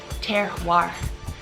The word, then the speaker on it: terroir: Terroir. It's spelled kind of like terror, or, you know, it's not spelled exactly like we want to say it a different way.